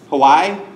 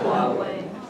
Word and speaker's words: Huawei: I don't know how to pronounce that in correct Chinese. Someone who speaks Chinese can tell me. Go ahead. Hawaii? What's that? Huawei.